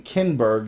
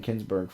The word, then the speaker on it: Kinberg: Lawrence casden and Simon kinberg you've been saying Kingsburg for like who are shaping Star